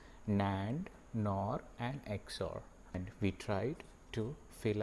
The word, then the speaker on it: XOR: e x o r so that people pronounce it as x or and even if you write it like this there is a tendency to go to zor but it's not your it has to be exclusive or for you to